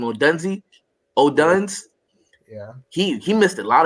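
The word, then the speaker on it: Odunze: O'Duns.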